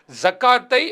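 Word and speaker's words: زكاة: தெரியுமா மர்ரா என்று நிறுத்துவார்கள் அப்போ ஜகாத்தன் என்று அரபியில் வந்தால் நம்ம ஜக்கா என்று நிறுத்திக் கொள்வது தவறு கிடையாது எனவே சரியான உச்சரிப்பு வாசகம் என்பது ஜகா என்று சொல்வதுதான் என்பதை இந்த இடத்தில் என்ன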